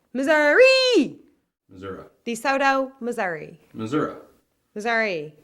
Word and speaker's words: Missouri: Missouri or Missouri? It ends in an I. It's Missouri. But if you're a politician, it's always been Missouri.